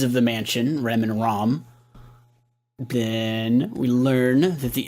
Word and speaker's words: Ram: It's spelled Ram, but said Rom.